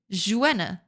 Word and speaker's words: Joanna: Joanna is pronounced with a hard J. Jua.